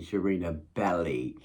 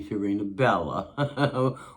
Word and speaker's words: Sharena Belly: or somebody told her but it's pronounced I'm going to do it one more time and it's going to be my final time sharena B with a Lee at the end not a la at the end not